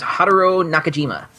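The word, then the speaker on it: Haruo Nakajima: that I pulled up that had somebody else pronouncing it his name is Haro Nakajima Haro Nakajima also known as man in suit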